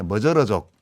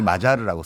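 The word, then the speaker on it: Magyar: 이게 머저르족. 아하. 보통 우리 마자르라고 쓰는데 네. 실제로는 머저르로 발음이 나죠.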